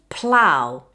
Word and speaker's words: plough: The ow sound is the diphthong ow. Again, it's a quick, smooth glide. If you have problems making this sound, try saying ah. Then after the ah, glide to u. This should give you the sound ow.